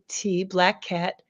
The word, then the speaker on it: BLAQQAT: And if you look at it the way I spell it, BLAQQAT, Black Cat.